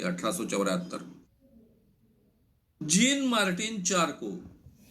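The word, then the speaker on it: Charcot: के 187 gene Martin चार को स्पेलिंग चारकोट है लेकिन उच्चार चार को है जीन मार्टन चार को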